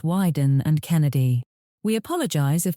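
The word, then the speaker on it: Wieden: Hugh now knows it is not pronounced Weeden, but Widen and Kennedy.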